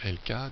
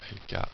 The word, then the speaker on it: Elka: sur le site de LK donc qui est notre laboratoire donc 3wlk.be donc LK ça s'écrit e lka une fois que vous